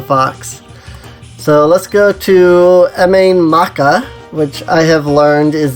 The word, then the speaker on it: Mabinogi: So let's go to Mabinogi, which I have learned is the proper way of saying this place.